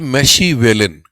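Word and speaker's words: Machiavellian: तो सवाल है बच्चे, इसे बोलते हैं मैशीवेलिन, ध्यान से मेरी बात समझना, मैशेवलिन। मैशेवलिन का एग्जैक्ट स्पेलिंग, इसका पहले मैं मीनिंग बताता हूँ।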